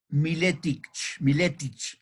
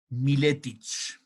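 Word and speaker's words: Miletić: Svetozar Miletic. Cuando las palabras en estas lenguas balcánicas terminan con C, se pronuncia che.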